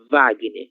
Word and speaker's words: Wagner: Por exemplo, WhatsApp ou Wagner. Wagner, o som V, ok?